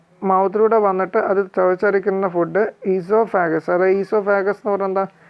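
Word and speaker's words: oesophagus: വന്നിട്ട് അത് ചവച്ചരക്കുന്ന food ഈസോഫാഗസ് അതായത് ഈസോഫാഗസ് എന്ന് പറഞ്ഞാൽ എന്താ ഈ കുടൽ എന്ന് പറയും ഇങ്ങനെ നീണ്ടു കിടക്കുന്ന ഈ ഭാഗം ഈ ഭാഗത്തിലൂടെ ആണ് നമുക്ക് എവിടെ എത്തിപ്പെടുന്ന പെടുന്നത് സ്റ്റോമക്കിൽ എത്തുന്നത് ഈസോഫാഗസിന് ഓ ക്ക് ഉച്ചാരണം ഇല്ല കേട്ടോ അങ്ങനെ എത്തിപ്പെടുന്ന ഭാഗം ഇതാണ്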